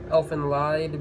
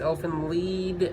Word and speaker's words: Elfen Lied: I just say Elfen Lied because that's exactly what it's spelt like. People argue and try to say it's Elfen Lied, Elfen Lied.